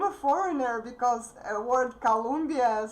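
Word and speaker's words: Колумбия: In Russian, just one sound is different. And actually, speaking with my friends from Colombia, I started pronouncing this word in Russian like this, like Colombia.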